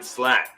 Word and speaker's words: Slatt: Shout outs to David Slatt, which rhymes with cat.